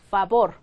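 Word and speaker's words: favor: 그래서 그냥 브 브다 그래서 이런 거 쓰시면 어떻게 쓰신다 파볼 파볼 볼 아니고 파볼 파볼 해서 똑같이 그냥 비웃 발음 하셔야 된다는 거죠 그다음에 나오는음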